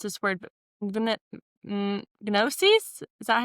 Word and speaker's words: Gnosis: Gnosis. Is that how you say that? Yeah. So it's nosis. The G sound. Okay. So you don't pronounce the G.